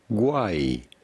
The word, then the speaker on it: Uruguay: We are looking at how to pronounce with a typical Spanish pronunciation. Uruguay.